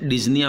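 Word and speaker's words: dyspnea: और एक वर्ड यहाँ पर और आता है डिस्निया, जिसके अंदर पी साइलेंट रहता है, इसलिए हम इसे डिस्निया बोलते हैं।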